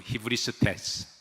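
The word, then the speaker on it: ὑβριστής: 히브리스테스. 발음하기가 조금 생소하시죠? 그런데 여러분 소크라테스는 잘 아시죠? 그래서 어떻게 하면 여러분들이 조금 더 친숙하게 이 단어를 기억할까 고민하다가 소크라테스, 히브리스테스 비슷하죠?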